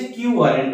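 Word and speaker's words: quo warranto: এটার উচ্চারণ হচ্ছে কিউ ওয়ারেন্ট বা অধিকার ইচ্ছা।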